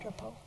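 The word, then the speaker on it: Grapau: Laura, come up and spell it and pronounce it for us. G-R-A-P-A-U, Laura. You were right, Drapo.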